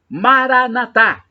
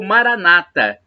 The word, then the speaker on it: Maranata: do aramaico Eu Clamo maranat como dizem os católicos ou Maranata com a tônica na penúltima sílaba como dizem os protestantes nós católicos colocamos a tônica na última sílaba os protestantes na penúltima mas não importa somos